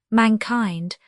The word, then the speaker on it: mankind: 61 mankind accented on the first syllable as it is almost invariably in Shakespeare except in Timman of Athens where the modern accent prevails.